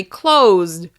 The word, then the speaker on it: closed: For example, on the word close, the final sound is actually "z": close, close, close. That means the past tense of the verbs is actually closed, closed, closed, with the "d" sound at the end.